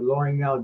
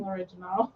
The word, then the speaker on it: L'Orignal: Oh, that's how you say it. I was saying l'original. The original? That's a very French pronunciation. Mind you, mine isn't very French, but it's more French than l'original.